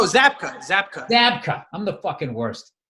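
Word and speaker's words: Zabka: pronounce Williams last name zela no zapka zapka zapka I'm the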